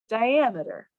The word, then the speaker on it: diameter: then i'm going to add the ah the syllable with the aval ammeter ammeter and then put it all together diameter let's try a word with slightly different sounds